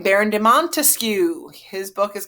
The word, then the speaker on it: Montesquieu: Locke life liberty land now we have Montesquieu three syllables I know don't laugh